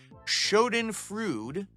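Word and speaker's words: Schadenfreude: time following someone you don't like is a Shen frud that's how you pronounce it I know what the word means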